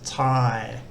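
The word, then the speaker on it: ถ่าย: long r vowel and the final consonant is the yuck y consonant but the the long r vowel and the your yuck maker a long i sound so it's thai which means to take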